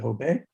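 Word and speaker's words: Jobe: obey obeying is obeyed they pronounced it hobe in the spanish fashion jay like an h um and when the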